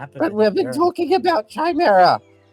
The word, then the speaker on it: Chimera: It's Chimera. Gau just has a a habit of pronouncing things in his own way.